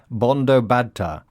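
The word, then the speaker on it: Bandyopadhyay: Sheila's surname is actually pronounced Bondo bada.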